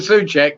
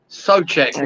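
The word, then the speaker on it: Souček: Unfortunately for Suchek, it does count. Yeah. Sochek. We should call him Sochek because that's the proper pronunciation.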